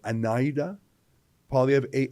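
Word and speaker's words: Anaida: Trudeau sorry Trudeau pv's wife I think I'm pronouncing it right anida PA of a n a DA n a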